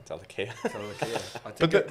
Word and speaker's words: Talakai: And I've learnt to not spell Talakai's name wrong. So, But every single time this man sends me a draft, it's Talaki. Talakia. Talakai. Talakai.